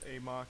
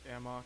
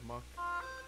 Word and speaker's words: Amok: I know it's not actually pronounced Amok, it's more like Amok or Amok.